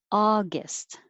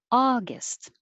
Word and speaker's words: August: 15, August, just not ow, August.